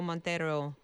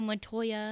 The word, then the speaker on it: Montoya: what's the guy's name I never say it right I am so and so Montero you kill my father Indigo Montoya yeah Montoya yeah I love that part